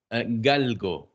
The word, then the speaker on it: galgo: How do you say greyhound? How is that? Galgo. G A L G O. Oh, that's easier than greyhound. It's galgo.